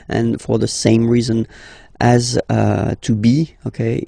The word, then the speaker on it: as: Second one, tu as, okay? As usual in French, final S is not pronounced.